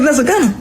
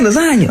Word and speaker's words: lasagna: I said, nigga, what the fuck is lesser gunner? She said, nigga, that's lasagna. I said, what? She said, you ain't know lasagna had a silent G in it.